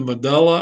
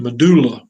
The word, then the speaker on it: medulla: then you see the medulla oblongata now your book's going to say pronounce it medulla but d-u-l-l-d-u-l-l you go to duel parties or do you go to dull parties anyway if however you